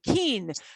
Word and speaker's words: quince: It just does, but it is keen. So think of it as keen, and then it's easier to pronounce.